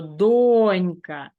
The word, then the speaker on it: донька: правильну відповідь Не забувайте щоразу наголошувати правильно тобто донька якщо особливо ви помиляєтеся донька вимовляєте вголос зробіть так щоб ваші ваші губи